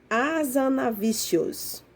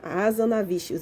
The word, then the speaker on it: Hazanavicius: maicon tá gente é michel tá e se pronuncia hazanavicius tá a zona vícios então michel hazanavicius resolveu fazer uma homenagem a